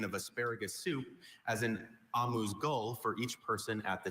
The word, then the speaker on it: amuse-gueule: Amuse-gueule. Amuse-gueule. May I have all the information, please? Sure. I have a few pronunciations.